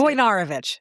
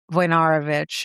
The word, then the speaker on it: Wojnarowicz: I don't think that's how you pronounce it. Wojnarowicz.